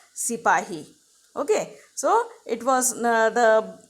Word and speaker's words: sipahi: Now sepoy here was the pronunciation which was made by the Britishers for sipahi.